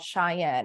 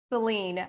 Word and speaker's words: Celynne: I've been called Cheyenne. I've been called literally everything other than Celynne.